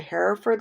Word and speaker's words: Hereford: I'm doing is of I think it's pronounced the hair furred lighthouse I drove down last